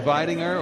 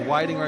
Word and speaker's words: Weidinger: and the offensive coordinator Andrew vinger or weidinger I should say sometimes I'm prone to calling him by the German pronunciation but he is very American but